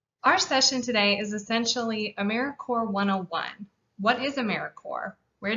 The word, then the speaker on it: AmeriCorps: pronounce americorps we say americorps we're alive and well you can say it like the core of the earth or marine corps we are not americorps or americorp or anything